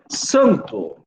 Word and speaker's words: santo: Santo, santo. Você tem a escrita do N, mas você não, ele só serve para nasalizar o A.